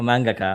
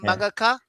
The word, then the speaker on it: mangaka: A mangaka. Is that how you pronounce it? Mangaka.